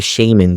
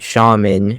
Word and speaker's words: shaman: S+ number two, we have the shaman crest. And no, it's not shaman. Shut up. It's shaman. That's how you say it. Uh, you're not British.